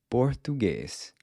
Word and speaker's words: português: The **Portuguese /t/**, on the other hand, is pronounced with the tip of the tongue pressed against **the backside** of the front teeth, and you quickly snap your tongue down—“tu”, as in “por-TU-guês”…”português”.